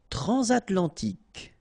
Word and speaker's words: transatlantique: Transatlantique, okay, so at the end, tic, remember Q-U-E, k, okay.